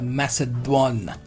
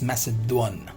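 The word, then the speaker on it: macédoine: next we have a message one does not mess it down it's message one clear the pronunciation of this is message one cutting technique in which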